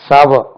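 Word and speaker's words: sour: அ green mango taste சவர் அ green mango taste சவர் சாவ அது புளிப்புக்கு புளிப்பான எஸ் ஓ யூ ஆர் சோறு என்று உச்சரிக்கக்கூடாது அது சாவ அ கிரீன் மேங்கோ டேஸ்ட்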